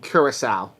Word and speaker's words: Curaçao: I'll help you with that pronunciation, Ethan. Those islands is what they call the ABC Islands. That's Aruba, Bonaire, and Curaçao.